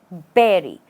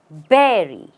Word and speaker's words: bury: burry then it's incorrect the right way to say is berry how do you say it Berry the stress is not on the last part or the second part the stress is on the first part it's not B it's be and you say Berry it's like you're putting